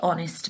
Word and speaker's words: honest: was an honest mistake although honest does start with a consonant the letter h we can't really hear in this word it makes a short o sound so we actually use an instead of ah so we say it was an honest mistake because we can't hear the h we just hear the